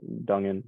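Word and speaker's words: Duggan: uh led by Max Donegan how do you say his name Max Duncan is that right yeah and I mean they've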